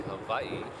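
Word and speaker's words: Hawaiʻi: Beach or Eva it's ew a but it's pronounced Eva in O Hawaiian Hawaii is actually Havi uh it's kind of been I don't want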